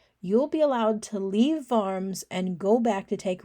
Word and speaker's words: Worms: if you show up at the town of farms it's pronounced farms but spelled worms if you show up at